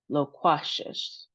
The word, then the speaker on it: loquacious: Next one is loquacious. So, we have three syllables and then we have our emphasis on the middle syllable with the Q. In addition to that, we have two long sounds. So, lo instead of la. And then we have quay instead of just qua.